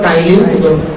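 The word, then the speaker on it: Ptyalin: এটা হলো উচ্চারণটা হলো টাইলিন, আসলে পি দিয়ে এটা শুরু, টাইলিন।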